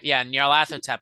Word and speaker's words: Nyarlathotep: That's how Nyarlathotep is how I pronounce that.